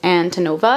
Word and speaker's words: Antonova: was reading the book I was pronouncing the last names Antonova, but I watched an interview with Olivia Blake and she was saying Antonova, so yeah, we're gonna pretend like I was saying that the entire time.